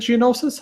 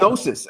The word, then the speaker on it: Gnosis: Is it Geonosis? How do you pronounce? I think that? It's Gnosis, actually, like Gnosis. Like KNO. Every time I see that,